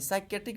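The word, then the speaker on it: psychiatric: कौन सा डिपार्टमेंट पे, तो आपका physio sorry साइकेट्रिक department, sorry साइकेट्रिक department. क्या है हमारा ये साइकेट्रिक डिपार्टमेंट। साइकेट्रिक डिपार्टमेंट से हम लोग क्या साइकेट्रिक हम किस बोलते हैं, इसमें पी साइलेंट है।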